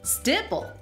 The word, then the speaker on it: stipple: Stipple rhymes with nipple, like the glacier in British Columbia.